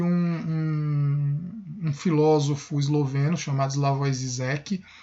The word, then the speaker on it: Žižek: Para encerrar esse vídeo, eu vou deixar um trecho de um filósofo esloveno chamado Slavoj Žižek, ou Žižek, parece que é a pronúncia mais correta, mas escreve Žižek, que ele fala um pouco sobre a ideia de ideologia.